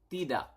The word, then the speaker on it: tidak: Yes is ya, and then no is tidak.